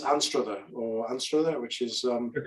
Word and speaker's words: Anstruther: And in fact, the town she's in is called, this is where Lee, you'll have to correct my pronunciation here. It's Anstruther, which is... You're correct, Anstruther.